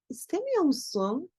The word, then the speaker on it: istemiyor musun: doğru cevabımız çok şey istemiyor musun oradaki R yokmuş gibi telaffuz edeceğiz ama yazarken istemiyor musun şeklinde yazmanız gerekiyor devam ediyoruz 5 sorudayız